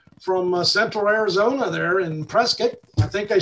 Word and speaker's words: Prescott: in prescott arizona and prescott is actually pronounced like c-i-t-t like a biscuit prescott arizona uh i learned that when i moved here back in 2006.